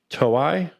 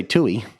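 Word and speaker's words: Toei: I'm going to probably pronounce is wrong but toi yeah probably close that's probably close as long as you didn't say Tui I I was going to say tuy but I think it's it's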